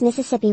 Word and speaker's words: Mississippi: For you, in English I usually pronounce Mississippi with a voiceless vowel in the second syllable.